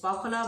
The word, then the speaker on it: Pakhala: আজকে আমি ট্রাই করতে চলেছি একটা নতুন রেসিপি which is পখলা ভাত, Orissa delicacy. Please excuse me if I pronounce it a wrong way. এটাকে অনেকে পখলা ভাতও বলে, অনেকে পাখলা ভাতও বলে।